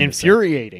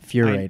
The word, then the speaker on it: infuriating: No, it's infuriating, not furating. Infuriating. There you go. It was a schwa sound.